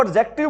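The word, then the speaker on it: adjective: ठीक है, जहां पर भी कौन सा वर्ड आ जाए बच्चों? डीजे, वहां पर डी की साउंड क्या होती है? भी साइलेंट होती है।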